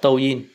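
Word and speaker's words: 抖音: Đấy, người Việt hay gọi đọc là Douyin, còn nó tiếng Trung là Douyin.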